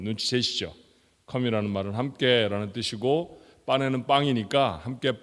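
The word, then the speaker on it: pane: 이탈리아 사람들은 빠네 그렇게 부르고요.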